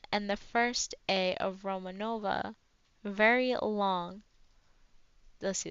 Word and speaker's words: Romanova: the first a of Romanova very long let's see the second a t an and roma Romanova okay I think that that's how we pronounce it my friends call me